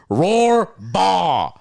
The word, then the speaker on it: Rohrbaugh: Rohrbaugh. I'm going to spell it phonetically for you so you know how to say it properly. He goes, roar, like a lion, and then B-A-W goes, baw, roar, baw.